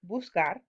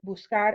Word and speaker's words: buscar: So if we conjugated this normally, suddenly we have the pronunciation busé, but we need to keep the pronunciation of buscar. We need to keep that k sound.